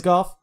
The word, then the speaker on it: Goff: I'm not huge on Jared Goff or Joff, however it's pronounced. It is Goff.